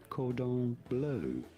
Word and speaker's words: cordon bleu: It is said cordon bleu. Well, cordon Seems bleu, odd. please. It's like the first time you've gone to the restaurant. Could I have some cordon bleu?